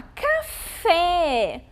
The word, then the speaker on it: café: Então, olhem lá, café. A sílaba fé é mais forte, certo?